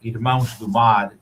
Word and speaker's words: Irmãos: And so this cigar, Irmãos is how it's pronounced. It means brothers of the sea in Portuguese.